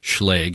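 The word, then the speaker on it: Schlage: on your front door I did look up the pronunciation of schay leg if you've been going with SCH you're either being ironic or wrong Market stock index Futures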